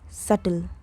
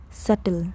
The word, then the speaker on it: subtle: The B is completely silent. It is pronounced subtle. subtle There is a subtle hint of spice in this food.